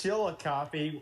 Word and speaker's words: Chillicothe: It's Chillicothe.